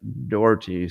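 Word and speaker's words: Daugherty: Uh, Eric Dhorty, spelled D A U G H E R T, spelled like daughter with a Y on the end.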